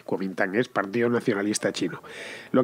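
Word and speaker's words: Kuomintang: el partido nacionalista chino que en chino se dice kintan más literalmente cuam minang es partido nacionalista Chino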